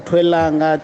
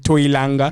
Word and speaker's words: Twelanga: And Tats, how did you go from Twelanga to Tats? Can you explain that? That's very interesting to me. Thanks. Because people kept pronouncing it Toilanga. Shit.